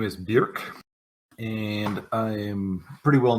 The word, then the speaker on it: Bjork: was your character's name uh bjerk like singer i was gonna ask you to spell it same spelling bjork it's a family name it's not my first